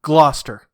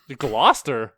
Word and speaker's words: Gloucester: oh you see e ste R but it's pronounced Smith Gloucester Gloucester yes so I don't know it's it's weird